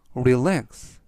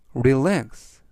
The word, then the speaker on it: relax: 뜻이 되겠습니다 이번 단어는 relax relax relax라고 발음하시면 되겠고요 이때 강세는 뒤에 있는 알파벳 a 강세가 있습니다 그래서 품사는 동사 뜻은